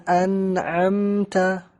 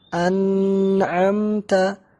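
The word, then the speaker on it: أنعمت: MTA amta sirotol ladzina an amta Non Sakinah setelahnya huruf Ain dan main Minho al-halq yang 6 cara membacanya tanpa tambahan diagonal Jadi bukan anak MTA tapi an'amta tidak ada tambahan di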